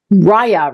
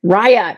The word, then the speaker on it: Rhiah: She goes by Rhiah, right? Did I say it right? Rhiah.